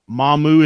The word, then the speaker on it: Mamou: YouTube and search Mardi Gras in Mamou Louisiana mahmu is spelled ma MOU that's the best thing I